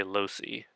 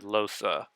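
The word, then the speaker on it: Lohse: I swear there are some characters who say Losi but she herself said Losa so that's how it's supposed to be pronounced I'll take her own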